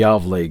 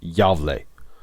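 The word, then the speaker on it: Gävle: Burning the Gavle Goat is a game.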